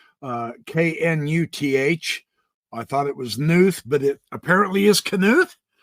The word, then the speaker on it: Knuth: I've heard his name pronounced Knuth, K-N-U-T-H. I thought it was Knuth, but it apparently is Knuth, so I will call him that.